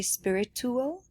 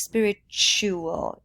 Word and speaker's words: spiritual: and that is spiritual I heard you say spirit tool but it's spiritual should like future or culture furniture spiritual it's this weird tu a combination that makes us say